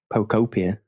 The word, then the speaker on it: Pokopia: I'm going to say it right, Joe. You keep telling me off. Pokopia. Yeah, you did it.